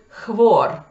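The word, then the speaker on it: hvor: Например, where, где, по-норвежски будет хвор. Мое норвежское произношение, оно так себе, заранее извиняюсь.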